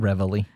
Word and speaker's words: Reveille: Reveille. Reveille. It's because it's spelled weird.